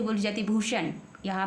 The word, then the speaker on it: भूषण: हुआ है भूषण तो बी एच यू एस एच ए एन बन गया भूषण तो बी के तुरंत